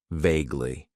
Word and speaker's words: vaguely: Then we have an adverb that I like to use, and that is vaguely. It has 2 syllables, and the stress is on that first syllable.